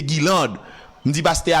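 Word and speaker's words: Guylande: Alors, l'écrit G-U-Y-L-A-N-D-E, donc, je pense le prononcer Guilande.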